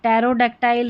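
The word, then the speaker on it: pterodactyl: फिर नंबर 37 पर है हमारा पी टी। इसको ट पढ़ना है। पीटी को हम ट पढ़ेंगे। पी जो है ना वो साइलेंट है। पी जो है ना इसको नहीं पढ़ा जाएगा। यहां पर देखिए टर्मिगन होगा। टैरोडक्टाइल है। टैरोडक्टाइल पी साइलेंट है।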